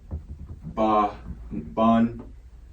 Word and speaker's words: Banyaman: Okay, Banyaman. That's plain and simple. Yep. Okay. Or you can pronounce it as Banyaman.